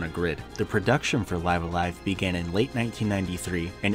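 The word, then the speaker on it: Live A Live: checked I triple checked you can check the Japanese pronunciation this is how you say it it is live alive not live aive live Alive live live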